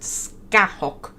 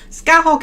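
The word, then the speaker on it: Scáthach: Who I slightly based on a Celtic warrior who I think her name is pronounced Skahok or something like that.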